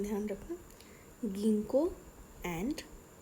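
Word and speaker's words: Ginkgo: इनको थोड़ा ध्यान से देखो, इनकी प्रोनाउंसिएशन ध्यान रखना, गिंको एंड नीटम, ओके।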